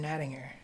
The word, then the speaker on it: Nattinger: with dnat or nettinger thank you for saying my last name correctly yeah okay great I thank you everybody says it with a soft G but it's a hard G so oh I've probably